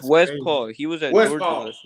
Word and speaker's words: Westphal: It's Westphal.